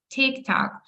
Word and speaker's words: TikTok: So we say Instagram, Facebook, TikTok, YouTube, content, laptop, internet. То ми ударяємо наголос на перший склад.